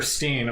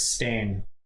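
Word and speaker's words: Berenstain: Yeah, it was never Steen. Apparently, it was Stain.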